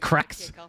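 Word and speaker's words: Qraxs: guy at another team named cracks spelled q-r-a-x-s with a capital r at night I don't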